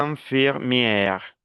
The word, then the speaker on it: infirmière: Attention à la prononciation. enfermera, Infirmière.